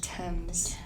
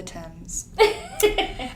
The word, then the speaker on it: Thames: of a derelict asylum on the banks of Thames. The Thames. Is that how you pronounce it? It is. Thames. The Thames. It's the Thames.